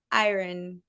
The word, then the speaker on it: iron: go with the flow and say iron, iron. I would say pronounce the I and the R and then just go straight to the N. Don't think much about the O.